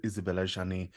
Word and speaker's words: Isabelle Adjani: J'adore Isabelle Adjani. Kudos on your French pronunciation, by the way.